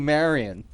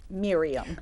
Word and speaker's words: Miriam: want to call you Marion Miriam Miriam you know I know your name's Miriam but uh you're being called Marion it rhymes with delirium and also well you